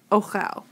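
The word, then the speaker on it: אוֹכֵל: And it's masculine singular, so there's no suffix, so it just becomes ochel. Rhymes with shomer, okay?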